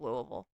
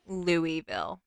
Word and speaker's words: Louisville: Cincy would have been the downfall instead of Louisville. Also, I was Hmm? watching one video and they pronounced it Louisville and I I'm sorry, how do they pronounce it? Louisville.